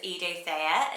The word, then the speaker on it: Eidothea: And I feel like it's got this really lovely blend of almost like a Edie and then the Thea, so it's Eidothea is how you say it.